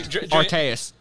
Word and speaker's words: Arceus: How do you pronounce the god of all Pokemon? Arceus.